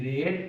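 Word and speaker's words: read: এটা হলো verb one আর ই এ ডি রেড এটা হলো verb two আর ই এ ডি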